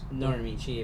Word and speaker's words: Norimichi: Nazuna announced that she wants to go for a swim with Norimichi, if you want to pronounce his name correctly.